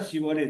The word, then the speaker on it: shibboleth: La palabra shibboleth es una palabra hebrea que tiene una particularidad. No todas la pronuncian fácilmente, esa sh del comienzo, shibboleth.